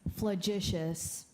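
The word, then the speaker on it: flagitious: s incorrect number 71 mahar your word is flagicious correctly say it again yes you're pronouncing it correctly could i have the definition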